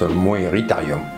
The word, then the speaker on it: Moeritherium: Coelophysis, ça se prononce Coelophysis, Coelacanthe, c'est l'acanthe, Moeritherium, Meritherium, ma foi, peut-être. La bête du lac Moeris. Ah, ben ça se prononce Moeritherium, on va comprendre.